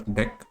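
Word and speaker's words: deque: But other data structures like DQ, that is actually should be pronounced as DEC, so are available in a collections, or you can use NumPy and pandas.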